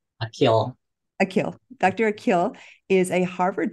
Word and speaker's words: Akil: Dr um and may I ask how you pronounce your name I want to say it correctly aill akill Dr akill is a Harvard trained physician who